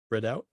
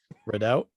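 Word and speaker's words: Redout: a unless you just typed it up wrong read out no no that's that's how it's spelled better okay write out two read out two red out red out two comes out june 16th the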